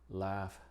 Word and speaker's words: laugh: Pero en otras palabras la GH se pronuncia como F en las palabras que vemos acá. Aquí, cough, draft, enough, laugh, rough, and tough.